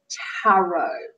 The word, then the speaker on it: tarot: Tarot does not rhyme with carrot.